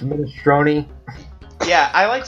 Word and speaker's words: minestrone: It's pronounced minestrone.